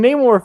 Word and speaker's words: Namor: You know, I, like most people, made a big deal about pronouncing names right for the last 2 or so years. Namor. And like when Namor fucking shows up and explains his backstory and calls himself Namor.